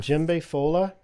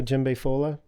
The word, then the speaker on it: Djembefola: it's Like, how called do you- Djembe Fola. With an How do you spell exclamation that? mark. So Djembe is spelled with a D. It's DJEMBEFOLA. And Djembe Fola is literally just means one who plays djembe.